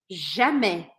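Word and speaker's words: jamais: em francês jamé jamé Então você já sabe até pronunciar que esse a i s a gente fala é jamé jamé que significa então nunca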